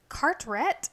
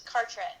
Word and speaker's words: Cartrette: Today I'm joined by Arden Cartrette. Is that how you say it? Close. It's Cartrette. Yeah, Cartrette. Like an ink cartridge.